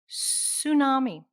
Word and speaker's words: tsunami: say that with me tsunami even though there's a t there we do not pronounce the t sound the t is silent say it with me